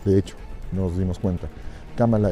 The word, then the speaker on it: Kamala: hecho, nos dimos cuenta, Kamala es como se debe de pronunciar su nombre, en automático se convertiría